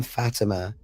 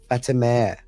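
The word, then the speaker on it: Fatemeh: So in Iran, the name Fatima is not common. There is another name which is similar, and they probably share the same roots, but it's more like a Fatimeh. It's not Fatima.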